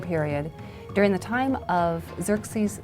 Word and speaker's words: Xerxes: Now, that was hard for the Jews to pronounce, so they said Ahasuerus. We know him as Ahasuerus. And the Greeks said Xerxes, which is Xerxes, okay?